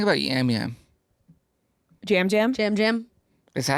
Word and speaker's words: Yam Yam: Jam Jam. Is that how you say it? I'm Yeah. looking at the thing and it's Yeah, it's so spelled that way, but okay. it's Jam Jam.